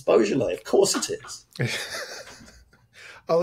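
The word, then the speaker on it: Boisjoly: Is it Roger Boisjoli? It's Roger Beaujolais. We're having Beaujolais. I'm getting all the names wrong. Names, man. They're really. it's just so unpredictable. Roger Beaujolais. That's how they say it.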